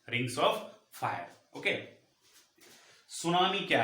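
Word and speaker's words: tsunami: ठीक है, सुनामी, इसका स्पेलिंग टी से शुरू होता है और यह एक जापानी शब्द है। सुनामी एक जापानी वर्ड है जिसका मतलब होता है हार्बर वेव।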